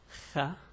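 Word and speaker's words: خ: Anyway, so writing this letter wouldn't be that hard, but the pronunciation, again I'll repeat, Kha.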